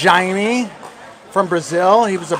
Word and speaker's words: Jaime: Then we got Jaime Oncins, pronounced Jaime, from Brazil.